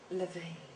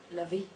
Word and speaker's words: LaVey: In terms of the pronunciation of my name and my surname, I can do it LaVey, or I can do it LaVey, or I can do it.